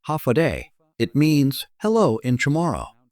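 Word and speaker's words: Håfa adai: H-fa-adai, pronounced hafade.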